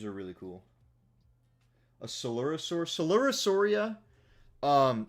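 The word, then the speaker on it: Coelurosauria: Solurosauria um spelled like celopicis.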